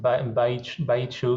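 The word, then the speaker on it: Baixo: Here, this part here, it's pronounced Baichu, it's hard to pronounce, but whatever, Baichu Corgo is where you find the inexpensive port.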